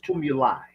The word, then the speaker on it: tumuli: word I say Google you spell it t tuu m u l u s tumulus okay and the plural is tumuli t m Uli these are earth created